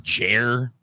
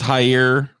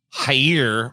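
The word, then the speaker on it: Jair: pronounce this first name is it just jer i think it's higher high okay higher bolsonaro on tuesday angrily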